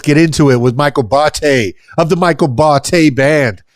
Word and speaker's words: Botte: It's Botte. It's Italian.